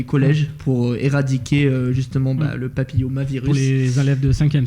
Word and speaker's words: papillomavirus: Papillomavirus ou l'omavirus? Non, c'est papillomavirus.